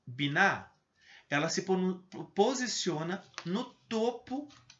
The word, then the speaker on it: Binah: esfera é a esfera binah essa pronúncia é mais simples binar ela se posiciona no